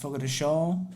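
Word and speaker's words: Fogo de Chão: guys have heard of fogota ciao pronounced fogo de sho or texas state brazil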